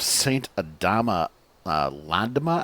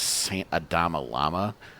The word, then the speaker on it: Saint Adama Landama: at the Church of Saint Adama Landama, I believe it's officially called. I usually mispronounce it as Saint Adama Lama.